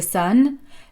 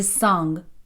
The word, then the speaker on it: son: Mais attention, avec le fils, the son, la prononciation est très importante. Souvent, avec mes étudiants, j'ai l'impression qu'ils disent "The s, le soleil, voire même parfois the song, la chanson."